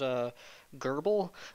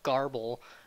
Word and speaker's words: GRBL: which is I believe the correct pronunciation of it is a durable but a lot of idiots call it garble look as a CEO